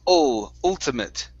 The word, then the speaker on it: ultimate: Instead of ult, it's ultimate. Ultimate. There you go. Now, with the at e there at the end, let's pronounce a short i and a t.